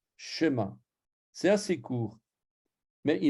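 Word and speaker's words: שְׁמַע: Shema s'écrit avec un 2 points comme ça, et il est court. Shema. C'est pas comme si je mettais les 2 points dans l'autre sens. Shema ou Shema. Non, c'est Shema.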